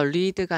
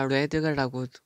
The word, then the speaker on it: read: 그래서 이 사람은 여기서 read가 아니라 read라고 읽으면 되겠죠.